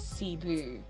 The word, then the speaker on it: CeeBoo: name like here no darling my name is cebu like i can actually tell you where the